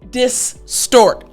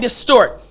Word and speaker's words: distort: in this lesson is the o r sound when you put o and r together all right so now